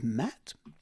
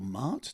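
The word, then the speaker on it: Maat: This guy here is Matt, or Mart, depending on how you pronounce it, and he is all wisdom.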